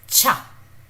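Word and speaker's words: 차: This is cha. So cha. Cha means car. This is cha. This is somewhere between this is very close to cha, the ch that we use in Hindi, chhatri.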